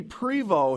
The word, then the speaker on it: Prevost: that's that's okay yeah i've been pronouncing the ost and that's just my silly american in me because but you can you know it's not wrong i wouldn't say it's wrong it's just french so pre-vote st kind of gets cut off yeah all